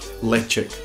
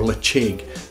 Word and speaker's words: Ledaig: Ledaig or Ledaig, the distillery and the producers, Burn Stewart, would like you to pronounce this Ledaig, but Ledaig is fine. The crucial thing here is the D becomes a ch, and the G at the end can either be a g or a k sound.